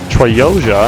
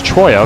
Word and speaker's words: Troya: Troyoja, I think is how you say it. Let me see. Oh, it's Troya.